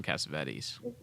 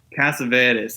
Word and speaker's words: Cassavetes: Killing of a Chinese Bookie, that's John Cassavetes. Cassavetes, that's what I was thinking of. Cassavetes. John Cassavetes. He's from New York, and the name is Greek origin. So Yeah, so I said it right.